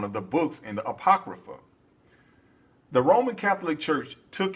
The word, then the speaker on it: Apocrypha: located in the aoia apoia uh let me pronounce that right Apocrypha that's what it's that's how you pronounce it that's one of the original Bibles Apocrypha that they would do this and the reason